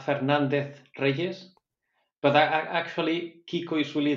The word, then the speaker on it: Fernandez-Reyes: uh Kiko I think that was right Fernandez Rees but actually Kiko is really the nickname so